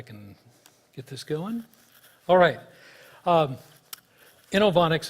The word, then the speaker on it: Inovonics: get this going alright inoue onyx is how you say the company's name about one in my